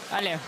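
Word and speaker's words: Allez: Al. Al. Okay. That means let's go. Yeah. I think you don't pronounce like the last five, six letters of every French word.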